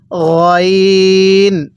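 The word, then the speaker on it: غين: এরপরে আমার সাথে পড়ুন গইন। গয়নটা মোটা করে পড়তে হবে। আমরা যেখানে গড়গড়া করি সেখান থেকে গয়নটা উচ্চারণ হবে গইন।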